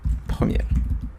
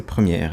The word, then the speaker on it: Premiere: pour travailler sur Adobe Premiere. Je pense que ça s'écrit comme ça, mais je pense que c'est Premiere et non pas Premier.